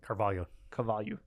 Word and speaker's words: Carvalho: Carvalho.